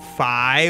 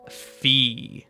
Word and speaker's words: phi: recent research suggests that most people agree that pronunciation is with an i right it's Fi not fee but there's certainly still